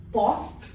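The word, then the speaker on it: poste: comes without any accents o is like o in not a wide pronunciation not so this word becomes post post a post office when it comes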